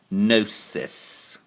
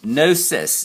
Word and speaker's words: gnosis: knowing okay so again gnosis and it's pronounced no cis forget the g but that's just the way they do it a knowledge of spiritual